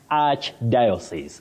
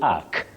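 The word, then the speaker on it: archdiocese: Arch diosis. You don't say ark. Ark. No. For that word.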